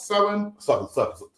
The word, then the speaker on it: Samhain: We're going to give you the complete history it should be of Samhain, pronounced Samhain.